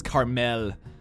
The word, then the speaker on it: caramel: I know a lot of people from California like to pronounce caramel as carmel, as if they're like